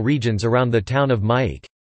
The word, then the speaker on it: Myeik: It is popular in the southern coastal regions around the town of Myeak. Bake is the Burmese pronunciation, and in Yangon, the largest city in the country.